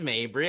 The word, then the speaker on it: Mabry: I so thought when you said Mabry, I was like, I've been saying his fucking name wrong the entire time I've known him. No, it's Mabry.